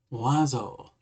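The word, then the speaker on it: Oiseau: I've heard it be like bird, wah, or oi. I know it's French of some type, but I'm not exactly sure how to pronounce it. Wazo? Wazo. Wazo. It's French for bird.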